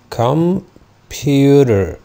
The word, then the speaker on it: computer: اخر كلمة عندي كلمة computer computer او computer. طبعا لو انا مش هنطق ال er في الاخر وهنطق ال td true t، يبقى انا هنطق هنا British computer.